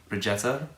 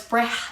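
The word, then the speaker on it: Brejcha: i cannot pronounce it regeta no it's bra it's like wreck breath but i can't like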